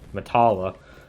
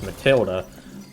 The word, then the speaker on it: Matilda: when i asked them said matala i've always just pronounced it that way and i feel embarrassed every time i say because it's so stupid once i finally realized oh wait that's matilda i thought i was